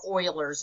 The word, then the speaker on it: Euler: is called the irrational number Euler's number or Euler's number is the actual pronunciation and they represent that with an e